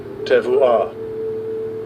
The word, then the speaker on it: tevuah: It says it looks like Tebow, like Tim Tebow. Let's see how it's pronounced. Strong's H8393. Tevuah.